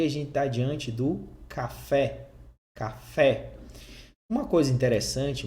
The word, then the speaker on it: café: mais forte da palavra então por exemplo aqui na palavra café você sabe que essa segunda sílaba ela é mais forte porque tem um assento está marcado aqui então se fala café você não fala café você fala café com uma final da